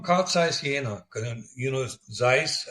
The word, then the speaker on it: Zeiss: He said, "I'm from I'm from Kaiis Yen and you know Zeiss as we pronounce it there it was an optical